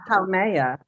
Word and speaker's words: Haumea: can that's start with Haumea. Haumea. Haumea, they Haumea. pronounce, my understanding is they Oh, pronounce each vowel, they pronounce each letter.